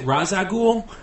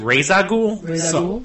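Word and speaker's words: Ra's al Ghul: ra I I say I always pronounce it razag but in a movie they pronounce it ragul yeah and what's his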